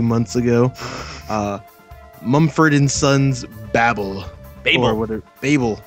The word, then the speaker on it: Babel: It's Babel. Babel. Babel. They say Babel on the first song, so that was appropriate. Yeah, I just attributed that to their weird Britishness. But apparently it's the actual pronunciation.